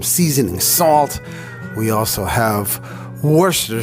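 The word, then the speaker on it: Worcestershire: salt we also have Worster sauce it took me four years to pronounce that correctly Worchester Shire Worchester wer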